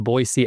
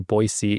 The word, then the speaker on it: Boise: Um, I I'm here in uh the Boisee, Idaho area. And um that's how that's how the locals say it. They say Boisey even though the rest of the country says Boise.